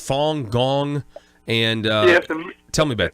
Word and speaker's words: Falun Gong: backing and has to do with is it pronounced Falun Gong and yes tell me about that many of